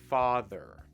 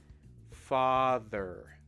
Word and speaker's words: father: saying the word father father father father now notice the difference there it's still the same th sound but the difference is that when you're saying the th you can still feel the vibration so basically this is